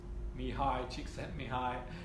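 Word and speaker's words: Mihaly Csikszentmihalyi: Okay, pronounced Mihai Csikszentmihalyi.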